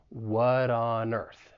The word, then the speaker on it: what on Earth: as a flap T it's going to sound like a soft D and this is because it comes between two vowel sounds what on Earth and we can link